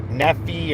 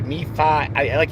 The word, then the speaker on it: Nephi: But then every now and then it would pronounce Lehi as Lehi, or Nephi or Nephi. It really made That's how you say it in Spanish.